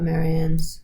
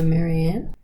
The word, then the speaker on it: Marianne: We need to talk about Marian's name. Go. Some people call her Maryanne. Some people call her Marianne.